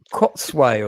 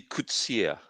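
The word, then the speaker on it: Coetzee: They completely mispronounce his name in this, so that's the one bugbear that I have about it. Because Is it Kotsway or something? no, It's pronounced it's actually Kutsia.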